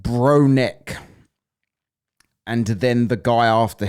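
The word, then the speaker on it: Bronek: Am I pronouncing that right? Uh, yes. B R O N E K. Bronneck.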